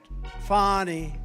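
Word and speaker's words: Fani: right has anybody fonnie it's pronounced fonnie F A ni I that's Fanny but she likes it funny when she became the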